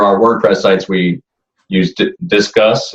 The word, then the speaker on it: Disqus: For our WordPress sites, we use Disqus. It's called spelled like a DISQUS, I think is the software we use for comments.